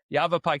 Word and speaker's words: Yavapai: Also, how do you pronounce that county the right way? I I feel Yavap Yavapai County.